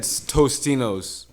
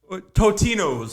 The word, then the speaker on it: Totino's: is this Tostinos one they're saying there's no s it's just it's spelled okay out of here I've always said Tostinos totinos Who the hell's buying